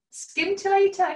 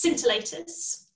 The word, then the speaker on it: scintillator: of the pun um so it's scintillators so scintillators like scintillating okay i didn't pronounce